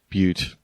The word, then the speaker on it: Butte: Apparently, it's pronounced Butte. Butte.